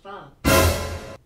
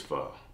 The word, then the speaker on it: pho: So I took the initiative to try fo again, but not only that, I'll be trying not one, two, three, but four different fos.